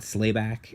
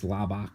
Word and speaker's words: Slabak: I know it's not Slayback. I know it's Slabak or Slab.